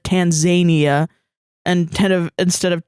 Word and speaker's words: Tanzania: understand I understand that it's pronounced Tanzania yeah Tanzania whatever it